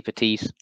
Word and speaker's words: Petit: You're not meant to pronounce the T. It's silent. I was wondering, was it the same with names? But it definitely is, yeah, Petit, yeah, you're right.